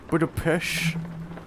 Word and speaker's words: Budapest: Budapest. Like Budapest. Budapest. Yeah, like a pesh.